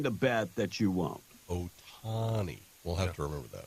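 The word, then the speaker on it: Ohtani: a lot of hate this morning bro it's pronounced Otani not oh HTI hey they connect it's so I'm supposed to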